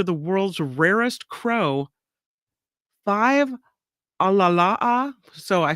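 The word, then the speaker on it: ʻalalā: now home to the world's rarest Crow five alalaa so I said it wrong Al alala alala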